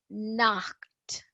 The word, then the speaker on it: Nacht: That Nacht, it's Nacht. That in English you can have, like, there are so many C and H pronunciations.